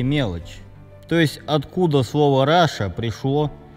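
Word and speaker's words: Russia: языке Вопреки всем правилам слово руссия произносится как Раша то есть англичане видят латинские буквы в слове руссия понимают их Но вопреки правилам своего молодого языка это слово произносят как Раша это можно было бы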